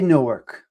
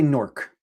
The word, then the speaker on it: Newark: it's not like Tommy, what's the right way to say Newark. Some jerkoffs will say no. N O R K. I say Newark. I say Newark. I don't say Norc.